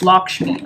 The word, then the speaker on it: Lakshmi: wow they don't no they do have the pronunciation here Lakshmi it's Lakshmi okay so lakshmi's here telling you you have